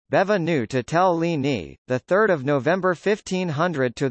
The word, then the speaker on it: Benvenuto Cellini: benvenuto cellini Italian pronunciation bevin new to tell Leaney the 3rd of november